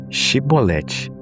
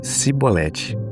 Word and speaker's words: Shibolete: Para identificar o povo de Efraim, pediu que pronunciassem a palavra Shibolete. Como eles diziam, Cibolete. Eram identificados e mortos.